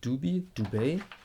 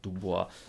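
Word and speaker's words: Dubey: I'm pretty sure that Schaldenbrand is a German pronounced thing. Schaldenbrand. Yeah, I think. But Duby, no, it's not Dubois.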